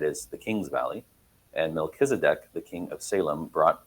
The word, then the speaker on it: Melchizedek: Mck me Melkisedc.